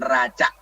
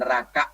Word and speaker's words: neraca: Habis itu kita punya catatan aset, atau disebut dengan neraca. Ini neraca ya, bukan neraka bacanya, ini neraca.